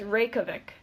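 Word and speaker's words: Reykjavík: off no listen one more time yeah it's Reykjavik break so we weren't too far off no we were brief Chubbuck Reykjavik okay so I picked Reykjavik Iceland I picked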